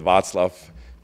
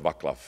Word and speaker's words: Václav: to pronounce I know we call it vats love then says love but most Americans call it václav so whichever is your